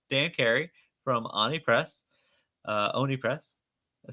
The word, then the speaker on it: Oni Press: Oni Press. I said it right? Oni Press, yes.